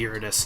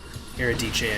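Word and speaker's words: Eurydice: I always say Iridis, and that's wrong. Eridice, I think, is correct.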